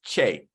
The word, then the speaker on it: Kyei: So fun fact, if you ever see a name from Ghana that has K and Y together, it's pronounced with a CH. So it's Che.